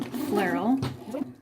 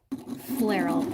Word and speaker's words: Flairel: The story behind my brand name, Flairel, rhymes with apparel, is that I strung together some letters that evoke some whimsical energy.